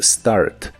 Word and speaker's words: start: El verbo empezar en el presente de inglés es start. Se pronuncia como se escribe. La pronunciación no inicia con E sino con S.